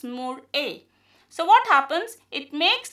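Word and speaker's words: MurA: pyrovinile transferase which is also known as mur a that is more a.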